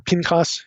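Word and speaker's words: Phinehas: should mention phineas and that's the way most of us would pronounce this phineas or pinkas hebrew this name is also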